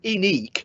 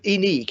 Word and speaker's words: INEQE: It's called Ineque, but Ineque is spelled INEQE.